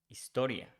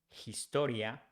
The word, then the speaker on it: historia: History, if we change Y for IA, it becomes historia. The same thing with H. We don't pronounce H in Spanish. So instead of saying historia, we say historia. So history becomes historia in Spanish.